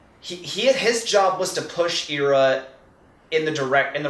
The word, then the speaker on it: Ira: Ira and Aced do not hate each other, or Ira, as the official pronunciation is now.